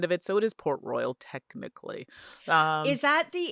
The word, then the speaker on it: Port Royal: And I think I always say Port Royale, but it's not because it would have an E at the end of it if it was pronounced, it was supposed to be pronounced that way.